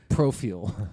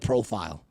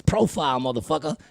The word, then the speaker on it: profile: I go that's not how you pronounce the word profill yeah profill instead of profile you know what I'm saying profill profill it's profile now